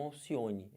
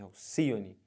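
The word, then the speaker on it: Alcíone: O nome dela é Alcione e não Alcione, é Alcione. A sílaba tônica é essa aqui. Então, se você conta, ó, última, penúltima, antepenúltima. Alcione é uma palavra proparoxítona, beleza?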